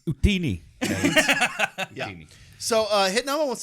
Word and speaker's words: Utini: The E is silent. Hitnama. No, Yeah. guys. It's Utini.